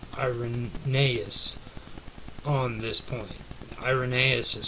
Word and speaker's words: Irenaeus: agree with i iron nais on this point irenaeus is spelled i-r-e-n-a-e-u-s but the following of ballot tennis